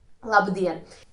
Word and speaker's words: labdien: Labdien. In such words, the stress is on the second syllable.